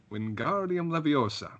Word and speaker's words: Wingardium Leviosa: but mmm suspense or how do you pronounce us Wingardium Leviosa that's right sir mm-hmm what does